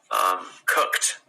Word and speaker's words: cooked: friend at the party like that cooked it's like a t at the end not cook it it's